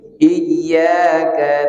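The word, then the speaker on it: إياك: Iyyaka na'budu wa iyyaka nasta'in. Perhatikan di iya, dua kali iya ada tasydid. Karena kalau tak bertasydid bacanya berubah maknanya.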